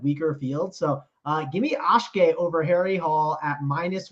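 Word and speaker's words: Akshay: So give me Ashke over Harry Hall at minus 122 on the FanDuel Sportsbook. Gosh, how do you even spell that? Ashkay, and then Bhatia is Bhatia.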